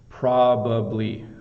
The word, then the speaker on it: probably: of the word probably so probably if I say it really slow does that help proably probably um and the be's are a little tricky right the BBA probably